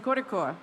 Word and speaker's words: Kozhikode: Specifically, I think I heard the correct pronunciation, Kozhikode, right?